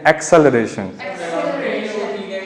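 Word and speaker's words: acceleration: ठीक है, इसको वैसे सब एक्सेलरेशन, लेकिन एक्चुअली में इसका प्रोनाउंसिएशन है एक्सेलरेशन।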